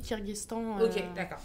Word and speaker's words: Kirghizistan: se disent en fait ça s'écrit Kirghizistan mais on dit kirghestan et donc ça ça